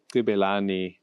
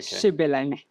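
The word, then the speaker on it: Xibelani: Okay, I'm going to mess up the pronunciation, but it's the traditional Gibelani dance. Okay. Shibelani.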